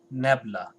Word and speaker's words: nabla: तो इसको हम लोग pronounce करेंगे nabla, N-A-B-L-A.